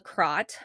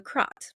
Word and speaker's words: Kratt: So, I'm going to talk about the crot. I think that's how it's pronounced. Um, my little pronunciation guide has a a h in it, and to me, that is an a.